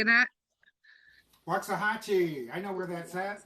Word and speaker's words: Waxahachie: They named their town that to try and Waxahachie?